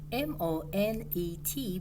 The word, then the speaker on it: Monet: his last name name m-o-n-e-t but you don't pronounce the t that's silent so we just say